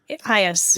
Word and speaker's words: eyas: How do you pronounce that? Ias. Yeah, Ias.